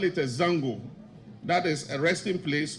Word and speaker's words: Zango: refer today as zongos the actual pronunciation of zongo is Zango not zongo and if you do your research Zango it's a house away